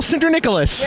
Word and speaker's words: Sinterniklaas: syndra Nicholas he said it right so it's true he